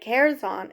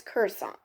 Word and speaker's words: Kherson: Um, and instead of Curzon, it's Kherson.